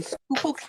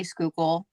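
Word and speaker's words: Schuylkill: Pennsylvania um I'm in a little town in skookul County which nobody knows how to say skookul um because if you see the spelling people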